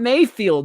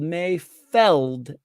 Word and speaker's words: Mayfeld: No, it's not Mayfield. Mayfeld. F-E-L-D. Yep, F-E-L-D.